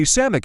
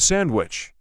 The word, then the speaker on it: sandwich: another one is when people say sammic instead of sandwich it bothers the easy